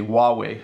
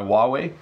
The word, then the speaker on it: Huawei: company called Huawei so I apologize to my Chinese friends if I'm pronouncing it wrong but that's how we pronounce it in Canada we say Huawei I think Ahmed got